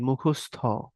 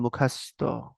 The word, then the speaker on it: মুখস্থ: অনেকে অধ্যায়ন তারপরে হচ্ছে এই মুখস্থ নখাল এলাকা বলে মুখাস্ত বলে না এরকম করে বলে বরিশালে বলে মুখাস্ত উচ্চারণজনিত জিনিস এখন ওই